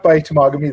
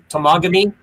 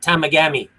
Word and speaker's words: Temagami: Yeah, I once drove with somebody first time going up north, and we saw the sign for Temagami, and he thought it was Tamagami.